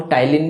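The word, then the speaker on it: ptyalin: तो salivary amylase जिसको हम टाइलिन भी कहते हैं, पी से स्पेलिंग शुरू होती है, PTYLIN।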